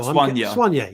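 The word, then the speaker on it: Soign: Spell it again. I want to see if I can. S-O-I-G-N. Swanye. I don't know. Swanye.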